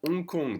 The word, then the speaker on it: Hong Kong: okay then we have unkong the h is silent dakar so we say